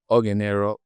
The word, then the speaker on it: Ogenero: So, the right pronunciation is Ogenero.